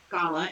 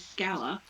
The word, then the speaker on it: Scala: Um, it is not Scola. It is Scalla.